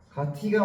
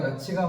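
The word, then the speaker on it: 같이: 가티가 맞아, 가치가 맞아? 치가 맞죠?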